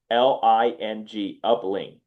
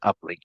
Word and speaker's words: Upling: It's by the way, it's spelled Upling, Upling. Correct, correct. A lot of people when they see it, they say uplink.